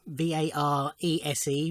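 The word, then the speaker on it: Varèse: And it's a reissue on Varese, Varese, with an accent on the first E, vintage.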